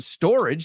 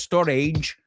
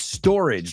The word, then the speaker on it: storage: Ojo con la pronunciación, no es storage. It's storage. Rima con bridge.